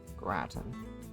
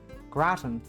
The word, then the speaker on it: gratin: Gratin. Oh. Pronunciation. Gratin.